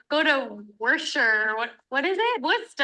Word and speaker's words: Worcester: Worcester. This one I know because it's like the sauce, right? Worcestershire sauce? Worcester.